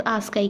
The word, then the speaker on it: ASCII: तो आस्काई को code pronounce आस्काई, क्या बोलते हैं इसे आस्काई, इज़ अ 7 bit code.